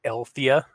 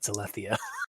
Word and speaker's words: Alethea: Also, did you seriously like pronounce that Althea, like Althea? Althea, like It's Al Bundy. Alethea. It's Alethea.